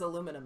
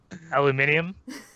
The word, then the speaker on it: aluminium: the way he says aluminum now aluminium that's literally how it's supposed to be pronounced honestly I I'm not being baited by this it's unbelievable there's no there is there's literally an I when you spell it the proper way there is an i the same as any